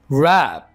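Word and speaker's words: wrap: कर रही है विस्पर रैप तह लगाना रैप रैप कैन यू रैप the book in paper रैप यहां पर डब्लू साइलेंट होगा ठीक है ऑप्टिमिस्ट पुरम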